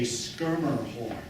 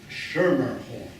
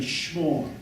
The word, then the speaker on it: Schermerhorn: It would have sounded something, they would have pronounced it as one syllable. It would have been schmorn.